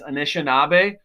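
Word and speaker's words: Anishinaabe: longest the name they have for themselves is pronounced right here is anishinabe which means real or original people they're also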